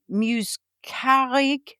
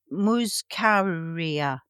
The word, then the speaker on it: muscaria: It's called an Amanita muscarig mushroom.